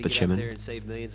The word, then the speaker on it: Spaceman: Spaceman, but pronounced Spachimin.